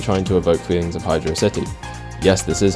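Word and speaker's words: Hydrocity: which is obviously trying to evoke feelings of Hydra City yes this is how it's pronounced fight me and seeing as how that's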